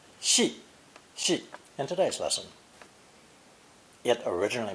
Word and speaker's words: 系: Now we have another similar-looking character, also pronounced fourth tone, 系, in today's lesson.